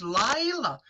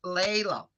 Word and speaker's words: Layla: I so much want to pronounce Laila because in my country it's beautiful name Laila Yes. and it's written the same, but I know it's in English, so it's Layla.